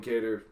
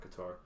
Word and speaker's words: Kattar: Kelvin Kattar is actually how you say it, not Qatar.